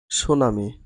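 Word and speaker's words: tsunami: সুনামি সুনামির স্পেলিংটা English হচ্ছে টি এস ইউ এন এম আই সুনামি। ঠির কোন উচ্চারণ হয় না।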